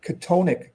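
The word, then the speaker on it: chthonic: So, well, it's it's spelled funny. It's spelled C H T O N I C. Katonic.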